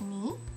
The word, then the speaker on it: に: It's pronounced ni.